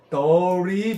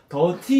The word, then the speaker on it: dirty: 근데 미국 발음은 모음과 모음 사이에 t는 티귿이 리을로 바뀌어요. 그래서 우리가들을 때 거의 더리 비슷하게 들려요. 미국 사람 발음 다 봤어. 더티 이렇게 안 하고 더리에 가깝게 해요.